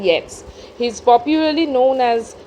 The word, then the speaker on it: Yeats: you must remember that the pronunciation is not eats but it is william butler yes he is popularly known